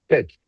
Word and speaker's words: Pxch: So, uh, anyone have anything else they want me to address before I kind of What's the correct pronunciation of the company? Pitch. Pitch. Like pi t.